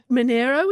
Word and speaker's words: Monaro: just as an aside do a lot of people call it Eden Monaro or is there am I saying it right even Monero is right and I